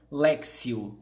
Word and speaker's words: Lectio: Alex e o divina se escreve ele é CTI o leque tio Divina é assim que se escreve mas se pronuncia lexil certo porque é do latim isso significa leitura Orante